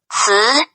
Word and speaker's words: 词: The letter C wants to say using the letter sound of T and S. 词, 词, Until you get